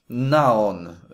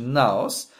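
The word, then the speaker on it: ναός: zasiąść jest to greckie słowo naon nie jestem peen czy się dobrze to czyta czyta się naos nie znam greki jestem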